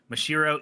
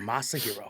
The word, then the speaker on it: Masahiro: and 3's art director mashiro ito who said he regrets designing masahiro i left that a whole ass syllable in there masahiro there you go come on teacher who